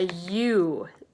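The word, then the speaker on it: ewe: have the mama sheep she's called a you it's e w e is how you spell it but it sounds just like the letter U and then the baby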